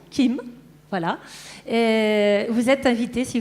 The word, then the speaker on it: Kim: Hein, c'est comme ça qu'on prononce Kim.